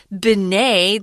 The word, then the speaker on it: Binet: That's why we didn't say Binet Simon, guys. It's a French name. So it's Binet. They don't like to pronounce that last syllable if it has a T at the end, especially Binet.